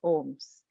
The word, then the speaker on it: OHMS: university of kentucky libraries called ohms pronounced ohms which stands for oral